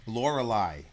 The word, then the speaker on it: Lorelei: mermaids are chanting the wild l'oreali I don't know how you pronounce that but I looked it up I know we don't usually do that in a review but I had to know Lorelei okay mermaids are chanting